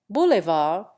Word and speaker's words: boulevard: Boulevard has a hard D at the end.